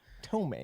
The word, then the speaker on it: ptomaine: Is the The P is silent. silent? Yep. There you go. Thanks, guys. Ptomaine.